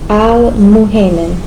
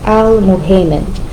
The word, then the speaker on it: Al-Muhaymin: Al-muhaymin. And this, of course, the guardian, the witness, the overseer. The u is pronounced u, and the ay is pronounced a, okay? Al-muhaymin.